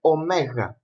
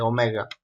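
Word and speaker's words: ωμέγα: And last one is the letter omega. This is pronounced O. There is another O in the Greek alphabet, the Omicron, but this is omega.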